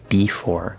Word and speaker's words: before: we have before before now the full pronunciation is b right b4 but that usually gets reduced to a schwa okay the four in the second syllable is stressed it has to say or okay not er or before now we're going